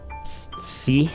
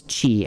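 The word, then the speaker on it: ち: like i said before why is this not like c i don't even know how you pronounce it um it just is what it is so just accept that this is chi and not c all right that's a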